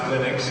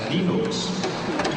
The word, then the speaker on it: Linux: Linux as Linux. However, the total answer to that is, if you are Linus Torvalds, you probably pronounce it as Linux.